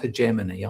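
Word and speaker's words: hegemony: what GSKY called on the hegmany sometimes pronounced hegemany I've always said hemany, you know, that's what it's about.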